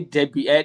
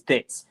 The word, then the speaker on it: debt: If there's any loan, if there's any debut, any debt, debt, I mean D E P the right pronunciation is debt.